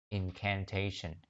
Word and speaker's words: incantation: Lúc nào mà cứ có thấy cái chữ nào mà có chữ shin này, mọi người nhớ chữ shin này nó phải đọc là sờ nặng nha. Và nó luôn luôn nhấn cái âm incantation, nó luôn luôn nhấn cái âm mà sát cái âm shin.